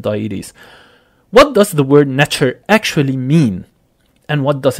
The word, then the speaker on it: NTR: the ancient Egyptian civilization NTR pronounced as nature some non- Egyptian egyptologists